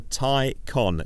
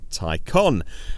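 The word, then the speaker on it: Taycan: name it's called the tie con tie as in necktie con as in con artist it's spelt a can it's pronounced tie con and of course all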